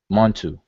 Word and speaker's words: Montu: he immediately knew that this was Montu, what people call Montu, but in the actual column here we see it as mnTw, but people pronounce it Montu.